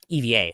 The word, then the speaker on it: EVA: Like like the the Starlux founder was originally at EBA air or EVA, sorry, is I believe the correct pronunciation.